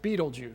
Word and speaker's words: Betelgeuse: pronounced mental Jews but most people pronounce it beetlejuice so they can remember it because if you stepped